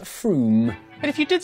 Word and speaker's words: Frome: Wrong, it's not Frome. F-R-O-M-E, it should be blitheringly obvious, is pronounced Froome.